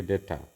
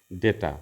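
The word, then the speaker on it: data: শব্দ আছে এখানে এনালাইসিস থেকে এনালাইসিস ডেটা থেকে ডেটা আমরা যেটা ডাটা বলি এমবি বলি মেগাবাইট মেগাবাইট আসলে ওটা কোন শব্দ না শব্দ হচ্ছে ডেটা উচ্চারণটা ডাটা নয় ডেটা এই এই এই শব্দগুলো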